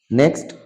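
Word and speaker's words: knock: আমরা silent word গুলো সবগুলো আত্মস্থ করব আজকে নেক্সট কে সাইলেন্ট ওয়ার্ড এই নিচে স্ক্রিনে প্রদর্শিত শব্দগুলোতে কে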